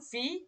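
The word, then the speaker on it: wie: তারপরে যখন এই যে ইর পরে এ থাকবে তখন এর উচ্চারণ হবে ই, ইর পরে এ থাকলেও এর উচ্চারণটা হবে ই। যেমন ভি গেট ইস ডিয়ার, মানে ভি, এই যে ভি, তো এই যে এখান থেকে আমরা এটা মাথায় রাখবো।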